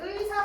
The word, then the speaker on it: 의사: 자,을 같은 경우에 첫 번째 의사 생각하면 됩니다. 의사는 의사라고만 발음을 하지 이사라고 발음하지 않잖아, 우리.